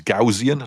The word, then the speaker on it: Gaussian: But yeah, this literally makes a Yeah, it's supposed to be it g I think the connect pronunciation's Gaussian, not Gausian, but I always say Gausian, but yeah, this is basically makes a Gausian splat, doesn't it?